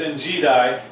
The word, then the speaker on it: En Gedi: Right along the Dead Sea is En Gedi, but it's En Gedi, really how it's pronounced.